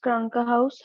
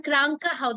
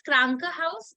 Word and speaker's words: Krankenhaus: You are reading it in Krankenhaus. It is Krankenhaus, or you are dropping it that N part.